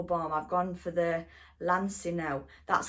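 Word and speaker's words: Lansinoh: I've gone for the Lancino. That's how you say it. Sorry guys, I've been pronouncing it all wrong.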